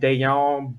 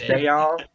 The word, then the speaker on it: Dayon: We signed Dayon Buchanan. That's correctly how you pronounce his name, not Dion. It's Dayon.